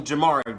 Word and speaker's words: Jhamarrii: If you are new, bitch, and this is your first time seeing my face, hearing my name, Jamari with 2 eyes, totally, like, that's, like, how you say it.